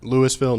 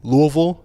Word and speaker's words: Louisville: You're closer than someone who says Louisville. Yeah, that's not. Louisville, no. Louisville, no. Louisville, yes. Lowell.